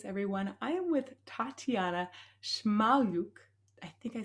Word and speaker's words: Shmayluk: the charismatic voice everyone I am with Tatiana shaluk I think I said that right shaluk yeah perfect we just had a coaching session